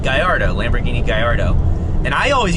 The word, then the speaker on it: Gallardo: years in college and the double l is pronounced l so it'd be gallardo not gallardo unless it's a spanish